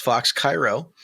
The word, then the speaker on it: Fox Chi Row: It's pronounced Fox Cairo.